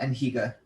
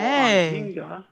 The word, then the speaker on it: Anhinga: Yeah, Anhiga. Okay. Pronounced Anhinga.